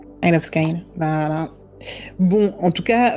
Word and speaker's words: Isle of Skye: raison sur la prononciation je viens de demander à Google et il me dit I of sky donc tu as raison il of sky voilà bon en tout